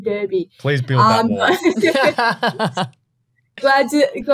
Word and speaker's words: Derby: Well, first of all, Alex, it is the Derby. Oh. I hate to break it to you, but Western pronunciation, it's a bit different out here, so please stick to the preferred pronunciation, Derby.